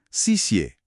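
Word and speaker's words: 谢: Huruf X. Ternyata dibaca S. Makanya kata XI yang sering banget kita dengar itu pelafalan aslinya xie, artinya terima kasih.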